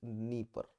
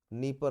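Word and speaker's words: Dnieper: आएगी, and this is नीपर। ठीक है, this is your नीपर river. दो इनके नाम डी से शुरू हो रहे हैं बट डी को प्रोनाउंस नहीं किया जाता। नीपर रिवर, अगेन ब्लैक सी।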